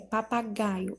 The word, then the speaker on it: papagaio: A letra E, papagaio, a sílaba tônica é o gá e ela é uma paroxítona.